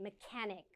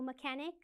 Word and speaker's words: mechanic: mechanic now be careful it's spelled with a ch but pronounced with like a k mechanic auto auto mechanic so automobiles auto mechanic